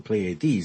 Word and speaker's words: Pleiades: He emphasizes the Pleiades, the third syllable.